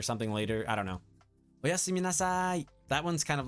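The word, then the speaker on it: おやすみなさい: Arctic, make sure you pronounce the O properly this time, okay? And Black Star, make sure you pronounce the me. Don't forget the me part, right? Okay. And Dev, you have to say nasai, okay?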